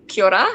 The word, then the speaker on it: kia ora: Kia ora. So it's K-I-A, and the second word is O-R-A. So it's pronounced kia ora. And the last two letters, R-A, you think of Ra.